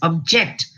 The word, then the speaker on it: object: as a noun versus object where the stress is stress falls on two different syllables here it falls on the first syllable object and then object as a verb you are able to